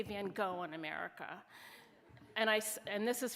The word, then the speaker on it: Van Gogh: And it's really, actually, Van Gogh is really the better pronunciation, but whatever.